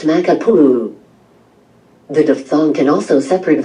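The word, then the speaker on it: Makapuʻu: For instance, Makapua is pronounced Makapuu.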